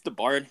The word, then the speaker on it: DeBard: It's DeBard. It's French.